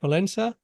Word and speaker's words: Valenza: And today, our guest is, if I'm pronouncing that right, Valenza. How do I Yeah, pronounce it? Oh, good. Valenza.